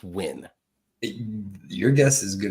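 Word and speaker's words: Nguyen: how is it pronounced win your guess is as good as mine but I'm telling you that all them letters put together jumbled up spells win n gu ye n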